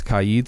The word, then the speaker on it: Kaid: if it's kelly o'cauley i always say cade wrong apparently kade's kaide so if i'm saying callie